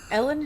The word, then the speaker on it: Elin: Oh, it's pronounced Ellen. It says, "Yo, Google AI is so stupid." Ellen Hilterbrand's first name is pronounced Ellen, like Ellen Degenerous.